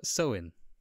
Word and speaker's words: Samhain: in traditional Irish fashion, it's called nothing like it's spelt, and that's Samhain.